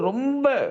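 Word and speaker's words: ر: ரா, ரா, ரே சொல்லக்கூடாது. ரா தஜ்வீதுடைய உலமாக்கள், தஜ்வீதுடைய எக்ஸ்பெர்ட்ஸ் நமக்கு சொல்லும்போது, இத ப்ரொனவுன்ஸ் பண்றது ரா அப்படிதான் சொல்லணும். ரே அப்படி சொல்லக்கூடாதுன்னு சொல்றாங்க.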